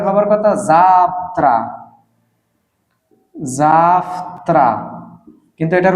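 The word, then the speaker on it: завтра: কেন ব্যবহৃত হল কাকিয়ে ফ্লানি না যাত্রা এটার উচ্চারণ হবার কথা জাফত জাফত কিন্তু এটার উচ্চারণ এটা হবে না ভুল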